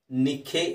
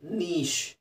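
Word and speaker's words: niche: Next ಪದ ಇದೇನಂತ ಹೇಳ್ತೀರಾ, ನಿಖೆ ಅಂತ ಹೇಳ್ತೀರಾ, ನಾಯ್ಕೆ ಅಂತ ಹೇಳ್ತೀರಾ. ಇದು ನೋಡೋಕ್ಕೆ ವಿಚಿತ್ರವಾಗಿದೆ, ಅದು ಹೇಗೆ ಕಾಣುತ್ತೆ ಆ ಥರ ಇಲ್ಲ ಅದು. ಅದರ ಉಚ್ಚಾರಣೆ ಬಂದು ನೀಶ್, ನೀಶ್, ನೀಶ್.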